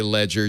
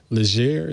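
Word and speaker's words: Legere: Leger. How do you say it, Stacey? You say it right. I thought it was Leger, but Leger. It's very French if you say it that way.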